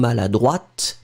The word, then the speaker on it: maladroite: pronounce it slightly differently, because maladroit, masculine, final T not pronounced. And then feminine form, maladroite, you will pronounce it.